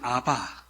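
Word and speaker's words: אבא: 약간은 히브리어에 가까운 겁니다 근데 아 아라 이제 아바 아바 공교롭게도 우리말 아빠랑 이제 발음이 매 비슷하고 의미도 굉장히 겹치기 때문에 아마도 는 입장에서는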